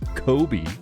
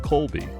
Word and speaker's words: Colby: he's heard Donald Trump referring to him as Kobe as in k-o-b-e instead of Colby to be fair there's a very subtle difference between Kobe and Colby so that can be